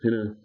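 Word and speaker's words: ἵνα: It is a little rough breathing mark, so you normally pronounce it hinna.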